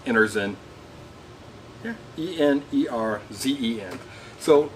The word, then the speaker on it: Enerzen: going to review the energy ozone emitter I think I think it's actually pronounced Anderson yeah e-n-e-r-z-e-n so it's